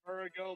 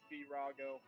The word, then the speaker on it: Virago: I always say Virago, but I believe it's Virago.